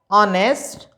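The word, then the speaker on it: honest: वर्डों को, एयर, आवर, ऑनेस्ट, honour. इन 4 वर्डों से पहले केवल और केवल आप क्या भरेंगे? एन भरेंगे, क्योंकि यहां पर एच साइलेंट है।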